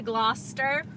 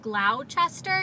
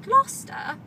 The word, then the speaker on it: Gloucester: And my mom kept pronouncing it Gloucester because that's what it looks like it's spelled to an American. And she kept asking people for directions to Gloucester, and no one could figure out what she was trying to say.